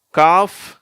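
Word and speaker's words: calf: காஃப், gulf. சரியா? இங்கே வந்து சைலண்ட் ஆகிடுது. காஃப்னு சொல்லும்போது வெறும் எஃப் உச்சரிப்போடு வந்துடுது. இங்கே கல்ஃப்னும் போது அந்த இல்லு எஃப் ரெண்டும் சேர்ந்து வருது, கல்ஃப்.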